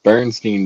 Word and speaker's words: Berenstain: It was always Steen, not Stain. Oh, no, now they're Bern. B-E-R-N. Berenstain Bears.